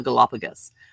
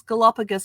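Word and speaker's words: Galápagos: He goes, it's Galapagos, not Galapagos. And I'm like thinking, oh crap, here I am supposed to be the travel professional, and I'm pronouncing the Galapagos as Galapagos.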